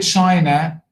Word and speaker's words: China: So in the word China, first syllable, Japan, second syllable, hotel,